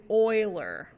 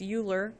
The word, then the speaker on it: Euler: Euler. Don't say it like Americans. That's Euler. Don't say it like that. Euler.